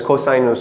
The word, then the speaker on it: cosinus: No longer sine, cosine, or tangent. It's sinus, cosinus, or tangere. Okay, so thanks for watching, and I'll see you next time.